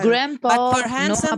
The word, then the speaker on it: grandpa: no it's silent and this is not a grandpa and grandma a d is not pronounced okay let's check it